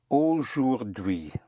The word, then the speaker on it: aujourd'hui: The word for today is aujourd'hui. Aujourd'hui. Aujourd'hui. Aujourd'hui. I'm going to spell it for you.